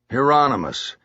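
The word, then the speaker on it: Hieronymus: Heronmous.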